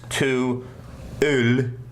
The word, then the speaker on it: To Øl: So I had to look up the pronunciation of O-L, because it's two words. It's not T-O-O-L. It's to Øl.